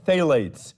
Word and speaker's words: phthalates: A new study has found that 80% of fast foods contain phthalates, spelled with a silent P, P-T-H-A-L-A-T-E-S, phthalates, chemicals used in softening plastics and thought to cause damage to this E-initialed body system.